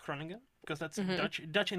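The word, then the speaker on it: Groningen: So the place I've been to, from if I understand correctly, it's pronounced Krenagan. It's called Granen, but it's pronounced Kronan because that's Dutch.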